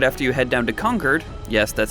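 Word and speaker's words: Concord: miss but right after you head down to conquered yes that's how it's pronounced don't hassle me and help out Preston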